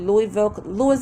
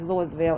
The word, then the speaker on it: Louisville: And this is happening, I think, Louisville, Kentucky. But I told you don't pronounce it as Louisville. It's Louisville. Louisville, Kentucky.